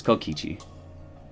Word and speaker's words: Kokichi: It's not Kokuichi, it's Kokichi.